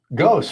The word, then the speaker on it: ghost: of pronunciation's past ah ghost spelled gh o s t you where where the h is silent Mhm.